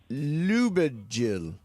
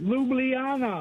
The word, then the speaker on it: Ljubljana: Yes, it's Ljubljana. I've never heard it pronounced. Steve, do you know how to pronounce it? Yes, I told you last time. Ljubljana.